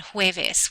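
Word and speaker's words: jueves: cabayo cabayo is horse the letter J when you see it sounds like an H sounds like an H so here we have huno Julio and hes which means June July and Thursday the letter H is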